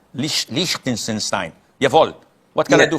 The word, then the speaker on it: Liechtenstein: How do you pronounce your country? Liechtenstein. Liechtenstein.